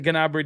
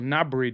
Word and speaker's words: Gnabry: Is the Gnabry deal off, or Gnabry deal, as apparently I should be pronouncing it?